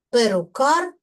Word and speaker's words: Перукар: Перукар перукаря. В називному відмінку наголос падає на суфікс, а в родовому відмінку наголос вже падає на закінчення.